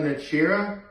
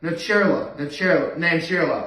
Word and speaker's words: Nancherla: Or the episode before when it was Kurt Brunel or Whitney Cummings and Aparna Nachira, I think is how I pronounce it. Let me look it up. Yeah, Aparna Nancherla.